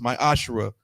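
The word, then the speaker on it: מעשר: 3 8 through 10 which means 10th in hebrew and is pronounced my ashrae 10 of every penny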